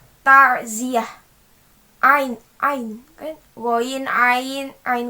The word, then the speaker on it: ta'ziyah: pada tengahnya takut2 api jika kita membacanya dengan normal harusnya dengan huruf ain tarziah i go i nine